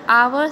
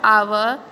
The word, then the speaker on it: hour: So students, you have to write an, because the word hour started with a letter H and the letter H is silent. So here you have to write an, because the word hour sounds like a double A sound.